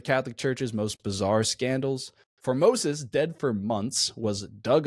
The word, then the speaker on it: Formosus: The answer is Pope Formosus. That's way wrong. You were close. For a ph. How do you spell that?